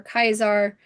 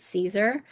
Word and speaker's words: Caesar: to have information for Kaisar." Uh, I love I love that both Lucy and the ghoul like are little shits and point out how stupid they are by not pronouncing it Caesar.